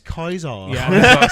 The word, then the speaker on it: Caesar: they call him Ka that's how the Germans pronounce it yeah and more importantly